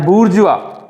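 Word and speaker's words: bourgeois: अब यहां पे उसने एक वर्ड यूज किया है, इसके प्रोनाउंसिएशन है बूर्जुआ।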